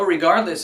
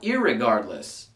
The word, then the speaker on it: regardless: Which is funny because that brings me to word number 5, regardless. Not irregardless. If you say irregardless, it becomes a double negative.